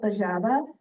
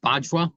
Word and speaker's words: Bajwa: Next, we have Preet-Paul, known as Paul Bajaba. Did I say that okay? Actually, it's actually pronounced Bajwa. Every letter is pronounced.